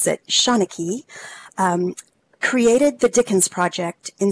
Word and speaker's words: Seanchai: provide a high quality immersive experience so the shona key library and that's how you pronounce that Shauna key created the Dickens project in Second Life in